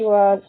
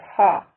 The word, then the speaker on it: は: When the character wa functions as a topic marked particle, it is pronounced wa instead of ha.